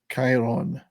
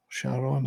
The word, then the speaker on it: Chiron: manager Lance Reddick as Chiron Sharon as some people say I'm trying to pronounce it in the original Greek as if I'm a scholar um I want to